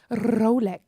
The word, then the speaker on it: Rolex: Try Rolex. Oh. With the got a- rolled R. It's got a roll of the tongue, Apparently has it?